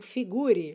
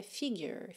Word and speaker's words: figure: Provavelmente se você tiver começando agora, você vai já ouvir ali mentalmente, não figure. Então, cuidado aí que a pronúncia é figure, figure, ok?